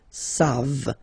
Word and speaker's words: savent: And then il, here classic ending for il and elle at the plural form, E-N-T, you don't pronounce it, so you get the sound savent, v-v-v-v, savent, okay?